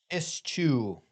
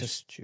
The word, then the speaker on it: eschew: Ischchu. It's Ischchu. and spell it.